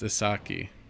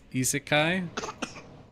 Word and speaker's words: isekai: Isaki is isekai.